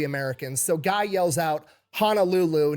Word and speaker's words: Honolulu: So Guy yells out, "Honolulu," knowing that a Japanese person trying to copy English would pronounce it honoru.